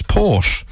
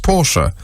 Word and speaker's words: Porsche: company's name is pronounced porsche in german orthography the word ending in e is not silent biz instead a stressed